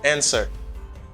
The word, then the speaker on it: answer: we have the verb to answer don't pronounce it's w here the answer let's